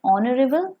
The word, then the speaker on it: honorable: Look at the example: an hour, an honest servant, an honorable man. In these words you can see H is silent, so they also begin with vowel sound, and therefore we will put before these words an.